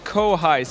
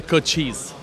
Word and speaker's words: Cochise: did you pronounce this I said Co highs you said something totally different yeah it's the Cochise the Cochise what does it mean